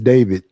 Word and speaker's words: D4VD: Even though his name is spelled D4VD, is David.